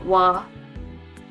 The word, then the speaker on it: は: So this wa, pronounced like wa, is a particle indicating the topic of the sentence.